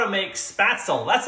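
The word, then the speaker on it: Spätzle: it doesn't matter how you say it spatzle spatsly i'm gonna show you how to make it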